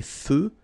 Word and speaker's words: feux: So here, final X not pronounced. Des feux de circulation.